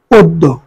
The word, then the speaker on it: অদ্য: এরপর দেখো, অদ্য শব্দের সঠিক উচ্চারণ নিচের কোনটি হবে? অদ্য। অয়ের অকে ও এর মতন উচ্চারণ কথা অদ্য। খেয়াল করো, অদ্য শব্দ সঠিক উচ্চারণ হবে অদ্য।